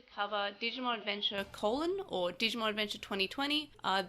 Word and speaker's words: Digimon Adventure:: digimon adventure colon or digimon adventure 2020. uh the colon is actually not pronounced so it is digimon adventure but to in order to